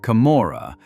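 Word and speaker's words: Camorra: The Kamora, pronounced Kamora, was born in those conditions and has survived every attempt to destroy it for more than 200 years.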